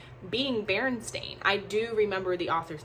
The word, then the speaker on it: Berenstain: asking that question if it was always stain because it had an a and not an e so you wouldn't need to question how to pronounce it if that made sense